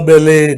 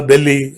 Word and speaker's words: Belle: I have heard teachers pronouncing Bella, Belly, and so on.